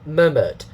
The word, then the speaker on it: murmur: Now, anyway, So murmured, speaking softly. Okay, and then the pronunciation, syllable one, two syllables, stress mark, and then dot, two parts. So syllable one is stressed.